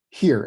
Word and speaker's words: hir: here and here HR hir is pronounced as here hre Tyler a hear